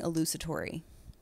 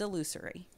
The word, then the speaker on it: illusory: truth by the way i keep saying elusitory but it's illusory because leave it to